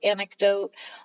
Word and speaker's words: anecdote: is anecdote anecdotally antidote it's read it's red like antidote but I believe it's anecdote I I always struggle